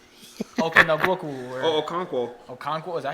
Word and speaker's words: Okonkwo: Okonkwo, is that how you Yeah, say it?